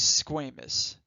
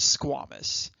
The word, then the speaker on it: squamous: cells, we call these squamous cells. Now, a lot of folks in the anatomy realm pronounce this as squamous. Not incorrect, but more commonly you'll hear folks say squamous.